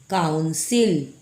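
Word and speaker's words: council: Next देखिए COUGH CIL, काउंसिल, काउंसिल, पहला वाला इसमें क का उच्चारण हुआ और यहाँ पर सी के बाद आई है, इसलिए इसका उच्चारण स में हुआ।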